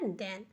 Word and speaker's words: then: THEN को हम देन पढ़ते हैं। अब देखिए TH है तो TH को हम दा लिखें। ई है तो दा पे आई की मात्रा, और एन है तो ना। तो हो गया देन।